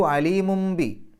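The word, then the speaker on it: عليم ب: വരുന്ന അക്ഷരം ബാ ആണ് തൻവീനി ശേഷം ബാ വന്നാൽ അവിടെ ഇഖലാബാണ് നിയമം എന്ന് പറഞ്ഞാൽ ആ തൻവീനിലെ നൂനിന്റെ ശബ്ദത്തെ മീമിന്റെ ശബ്ദമാക്കി മാറ്റി മറിക്കണം ഒരു അക്ഷരത്തെ മറ്റൊരു അക്ഷരമാക്കി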